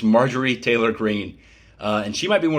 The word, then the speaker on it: Marjorie Taylor Greene: I always want to say Majori, but it's Marjorie Taylor Greene.